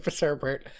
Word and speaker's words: Fitzherbert: Hey, did you know my last name rhymes with sherbet?